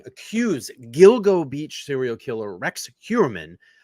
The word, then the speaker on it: Gilgo: show so as I was saying here suspected Gilgo I said it right this time Beach killer